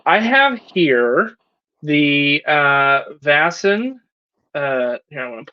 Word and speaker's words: Vaesen: please tell us what the correct pronunciation of this game is it's vasen vassen okay yes yeah so so